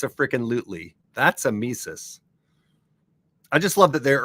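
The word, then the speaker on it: tmesis: the misus misus and let me spell that one for you because it's a crazy one Amis starts with the letter t yeah misus silent T ever heard of such a thing so misus is inserting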